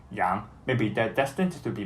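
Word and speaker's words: 杨: That family name has the exact same pronunciation as the word for mutton, Yang.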